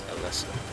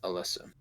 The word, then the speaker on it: Alisa: A L I SA. Basically Alisa, but it's Alissa. Oh, it's a L I Yeah. a Lisa, but it's pretty much pronounced Alyssa.